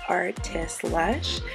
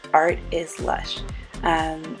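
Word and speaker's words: artislush: his um instagram is artist lush um so art is lush i always pronounce it as one word but it's actually art is lush and it's just put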